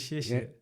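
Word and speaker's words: 谢谢: No, so thank you is 谢谢.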